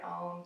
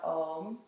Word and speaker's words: Om: So we'll chant the word Om together. And the word Om has 3 syllables. It's like ah, oh, and then or 3 sounds rather.